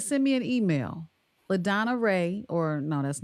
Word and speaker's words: Raeh: And Ray is spelled Raeh.